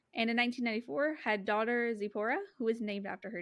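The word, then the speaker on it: Tzipora: expect it's like t-z-i-p-o-r-a i think that the t is silent yeah i don't know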